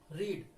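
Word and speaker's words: read: रीड, रीड की second और third form भी यही बनेगी, लेकिन प्रोनाउंसिएशन थोड़ा चेंज होगा। रीड रेड रेड, रीड रेड रेड, ये ध्यान रखना, पढ़ना, ठीक है।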